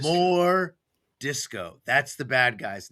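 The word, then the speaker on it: M'jordiscau: And so we changed it so it's it's it's pronounced more disco, but on paper it's written as m apostrophe j o r d i s c a u. So it's like mure disco, but everyone calls him more disco.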